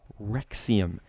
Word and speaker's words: Rexouium: The Rexouium. Yes, that's how it's said. It's spelled very weird, but whatever.